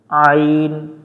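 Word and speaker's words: ع: থেকে কণ্ঠনালীর মাঝখান থেকে একটু চেপে পড়তে হবে আইন আইন আইন হামজা জবর আইন জবর আ এটা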